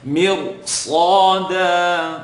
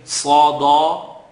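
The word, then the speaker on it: ص: Sada, totally wrong. Sada, you're not pronouncing it with it, giving it its right. So Sad is heavy, second part of the tongue. Sa, dal, tip of the tongue behind the top two teeth. Da, Sad.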